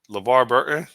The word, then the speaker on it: LeVar Burton: LeVar Burton.